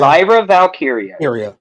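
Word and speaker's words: Lyra Valkyria: Lyra Valkyia.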